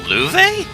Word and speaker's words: Louve: I thought you beat Louve once. Hard to believe with that sorry side of a fight. Also, Louve? That's how you're supposed to pronounce that? Okay, well, I've been pronouncing it wrong. I still say low sounds